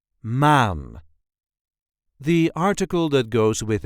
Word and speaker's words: maan: This is the way we say maan, maan. There is no real emphasis there, just maan. Make that a long A. Maan.